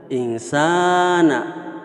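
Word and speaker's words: إنسان: Dilanjutkan, insana. Sa bacanya panjang, mad asli atau mad tabi'i, fi ahsani taqwim.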